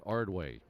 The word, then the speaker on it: Ardoin: Pitch running for James McCann is Silas Ardway. Spelled Ardoin, but pronounced Ardway.